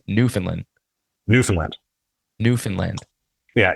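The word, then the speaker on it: Newfoundland: pronounce it so it's New Finland New Finland New Finland yeah you got to get that D on the end yeah so you don't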